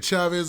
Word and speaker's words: Cheaves: chiefs now jaden man i know i called it jada chavez earlier but i think it's pronounced chiefs even though the spelling they could go anyway right now the story